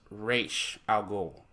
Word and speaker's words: Ra's al Ghul: in the movie because in the comics is pronounced race algol not Ra's al Ghul that's what got me